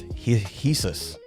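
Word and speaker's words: Jesús: The Dortio says Jesus is pronounced heus Jesus.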